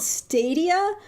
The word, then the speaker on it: Stadia: week we have a I'm referring to it as Google Stadio because that's how I think it should be pronounced but Sam you said stadia yeah well I mean the the people who've worked for Google who are making the announcements they said stadia but it's possible that